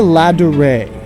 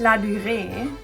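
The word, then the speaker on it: Ladurée: We went into La Durée, a famous French luxury bakery that was created in 1862.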